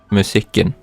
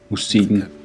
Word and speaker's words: Musikken: Listen to how the K sound disappears in Danish. Musikken. Musikken And listen to the pronunciation of this phrase again.